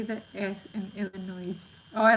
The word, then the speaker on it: Illinois: um that's true pronunciation people in Illinois do not pronounce pronounce the S but some people in Texas say that yes in Illinois oh I like how